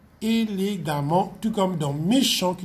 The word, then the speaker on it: élégamment: Ici aussi, le NT va être enlevé à l'adjectif pour être remplacé par M-M-E-N-T et le AM se prononce A, élégamment, tout comme dans méchant qui devient méchamment.